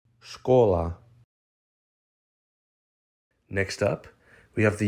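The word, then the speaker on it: школа: letter by letter Sha Ka or l a scholar scholar next up we have the Ukrainian word for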